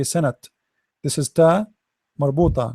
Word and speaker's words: سنة: Start with letter by letter. Sa, na, san, and then ta. This is ta marbuta, ta light ta. So sana. Remember the ta, we don't say sanat.